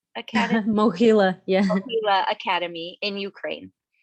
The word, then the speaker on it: Mohyla: I don't know how to say it, Mohyla Academy. Mohila, yeah.